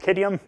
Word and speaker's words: Qadium: I'm going to say it's called kid iam there's the phonetic pronunciation so where are we